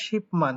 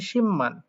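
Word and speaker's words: 십만: এখানে কি হয়ে যায় শিপমান কিন্তু সেটা সঠিক না কারণ এখানে একটা বিয়োগ বাচ্চিমা আছে আর তারপরে মিউ আছে যার কারণে বিয়োগটা মবি তাই উচ্চারণ হবে সিম্মান এই বিয়োগটা মহবি এবং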